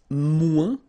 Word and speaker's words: moins: Then if you want to say less, it's moins in French, so no discussion about the S here. Don't pronounce it, okay?